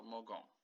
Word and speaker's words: mogą: Only one, we go back to the same, to the G, so mogą. Okay, G in Polish is the G, so it is pronounced G.